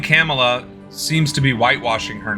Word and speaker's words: Kamala: what is I'm sorry camela cuz I was told I need to pronounce it like Pamela instead of Kamala or else I'll be racist uh you know never